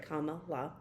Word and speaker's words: Kamala: I finished my Kamala, gotta make sure I say it right, Kamala.